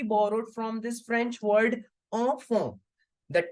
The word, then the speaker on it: enfant: Okay, whenever you see en, an, on, we always have to make the sound of on.